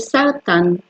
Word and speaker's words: סרטן: It’s said "sartan". "Sartan", I’m going to write it here.